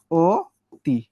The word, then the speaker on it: অতি: ও তি। তাহলে অতিটা উচ্চারণের সময় কি হয়ে গেল? অতি হয়ে গেল, ও হয়ে গেল।